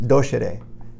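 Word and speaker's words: docēre: doctor comes from the Latin word which is pronounced dosha day and though should a means to teach so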